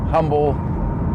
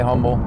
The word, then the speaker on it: Humble: Every time I hear them on the on the scanner, it's like in Pasadena or in Humble or Umble, however you pronounce it. I say Humble, but I hear them.